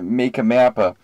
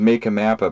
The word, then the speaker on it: MakkaMappa: something else app uh I've been pulling around to see how people would pronounce it in my opinion you know my humble opinion this is apparently not the majority I'd say uh make a mappa and uh that seems